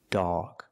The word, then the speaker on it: dog: normal ah but dog the O is before G so we make the sound back here dog not dog but dog hot dog hot dog